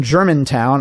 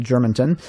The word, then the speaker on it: Germantown: here doug maurice in germantown i mispronounced that the other week and said germanton because that's how it looks on paper i have a stockbroker